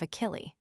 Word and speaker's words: Achille: However this may be, modern Greece and France alone repeat the name and it is much disguised by the French pronunciation of Achily.